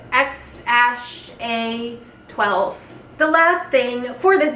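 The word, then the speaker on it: X Æ A-12: of letters and numbers apparently pronounced x-a-12 the last thing for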